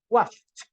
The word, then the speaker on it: watched: Si te das cuenta, watch tiene la C y la H, lo que implica que su sonido es de una letra T. Watched.